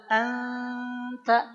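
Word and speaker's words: أنت: itu maka pengucapannya begini ketika an itu udah begini Pak si lidah kita si ujung lidahnya udah siap-siap ngucapin ta ditambah dengan ghunah anta anta anta coba bukan Ang ya bukan Ang beda kan bukan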